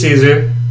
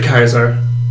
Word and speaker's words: Caesar: game Assassin's Creed over him there is Julius Caesar what they don't pronounce the Kaiser what they say Caesars no they just say